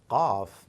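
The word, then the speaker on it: قاف: Qaf is not K, and maybe I'm wrong, but Q and K, they sound very similar in English, but in Arabic there is a very unique sound coming for Qaf, like in the case of Ain, coming somewhere from deep inside your throat. You've got to listen to it carefully and practice it and listen to it from some Arab brother or sister. Qaf.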